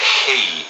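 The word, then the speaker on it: Χ: So the X, as you know, as the X in the Greek language, is pronounced as a he, and that's the noise that you use to explain that sound.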